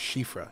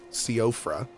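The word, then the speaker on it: Soifra: specific weapon in mind apparently s o i f r a is an old Irish word pronounced shifra yep I used to think it was cofra right just how it's pronounced but then I believe someone from Ireland in chat was like actually it's pronounced this way and I was like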